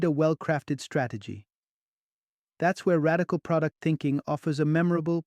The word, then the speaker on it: RDCL: That's where radical product thinking offers a memorable, practical framework called RDCL, pronounced radical.